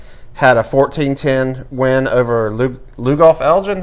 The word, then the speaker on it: Lugoff: Summerville had a 14-10 win over Lugoff Elgin. Am I pronouncing that right, correct. Rob? That is correct.